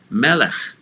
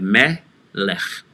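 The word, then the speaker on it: מלך: Melech, which is also starting with an open syllable in yellow and going on to a closed syllable, in this case, the lamed, underneath the vowel, Tsere, the three dots in a downward triangle, and again the chaf sofit for a glottal stop, lech.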